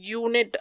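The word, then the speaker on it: unit: இப்போ யூனிட் அப்படின்றத நீங்கள் ப்ரொனவுன்ஸ் பண்ணும்போது யூனிட் அப்படின்னு வருது. ஸோ யூ அப்படின்னு வருது.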